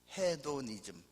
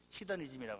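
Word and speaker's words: hedonism: 스펠링대로 읽으면 헤도니즘, 히더니즘이라고 합니다. 기쁨주의예요.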